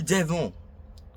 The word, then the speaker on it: devons: Nous devons. ONS, do not pronounce the S.